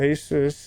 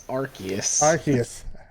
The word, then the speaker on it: Arceus: how you say it it's arceus that's a new one i haven't heard anybody say it like that asus yeah acers no i've always heard i've always heard people say it like are arceus well anyways that comes